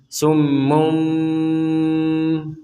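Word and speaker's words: صم بكم: yarjiun di sini summunah asal katanya adalah summun kemudian karena bertemu dengan ba jadi ee tanwin domain ini bertemu dengan huruf ba maka di sini dibacanya dibalik namanya itu adalah iqlab iqlab itu artinya membalik artinya yang D matain summun Kemudian bertemu dengan ba bnya Ini terbalik menjadi summum kemudian ba ahah summum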